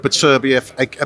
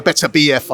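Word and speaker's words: Beterbiev: to get down and fight the winner of BBF better BF I should pronounce it correctly against uh biver yeah look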